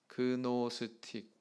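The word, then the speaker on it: Gnostic: 수가 있습니다 영지라고 하는이 말 자체가 노스틱 이렇게 발음을 하는데 이것은 영적인 지식이라고 하는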